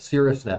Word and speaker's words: Caerusnet: google search if you don't know how to spell it c-a-e-r-u-s-n-e-t that's it cirrus net or you could just search facilitated referral teams